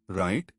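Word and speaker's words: write: Silent W pattern राइट wrong रिस्ट wrestle W R pattern में W silent.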